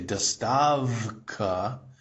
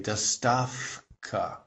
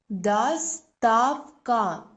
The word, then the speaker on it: Доставка: So this turns from a V sound into its quiet brother, which is an F. So if you listen to the native speaker, they don't say dostavka, they say dostavka.